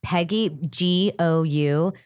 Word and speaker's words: Peggy Gou: I just want everybody to listen to Peggy Go, or maybe it's pronounced Jou. It's Peggy Gou.